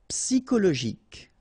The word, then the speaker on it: psychologique: Okay, remember at the end you've got this K. Okay, so ic. And then Y is pronounced like I, psi, and then it's an exception here because normally we should pronounce it sho, okay, but then we pronounce it ko.